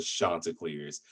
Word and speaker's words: Chanticleer: We are called the Chanticleers, but we are a really cool small community school, and we enjoy having, building those relationships.